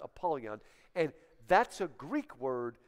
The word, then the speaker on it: Apollyon: It's usually pronounced Apollyon.